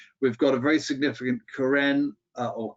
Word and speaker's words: Karen: We've got a very significant Karen or Karen, but pronounced Karen population here in the Karenni or the Karen Hills.